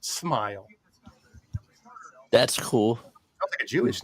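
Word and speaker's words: Smael: S M A L pronounced Smile.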